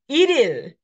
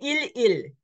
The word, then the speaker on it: 1일: So this is iril, iril. But you don't say il il. You have to say iril, iril. The final consonant of our L gets carried over. So it's iril, iril, not il il.